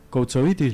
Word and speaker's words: Koutsovitis: Justo estábamos charlando porque, bueno, está con nosotros María Eva Koutsovitis, ¿lo pronuncio bien? Perfecto. Bien.